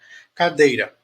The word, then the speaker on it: cadeira: Cadeira, cadeira, cadeira, cadeira. O dei é a sílaba mais forte.